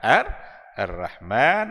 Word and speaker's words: Ar-Rahman: Maka Ar-Rahman itu bacanya tetap adalah Ar-Rahman 'allamal Qur'an.